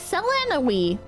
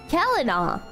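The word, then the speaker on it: Celanawe: I thought it was Selena. He pronounced it Kelena. That's funny. Kelena. I guess it's Kelena. Now we know. Now that he's dead. Now that he's dead, we know how to pronounce it.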